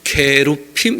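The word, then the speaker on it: 케루빔: 이 그룹 이렇게 되어 있는데 실제로는 케루핌 이렇게 발음하는 게 좋습니다.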